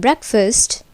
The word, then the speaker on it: breakfast: are shortened in duration and foes fast is pronounced fully long for example the car goes very fast but in breakfast the pod fast is almost like first this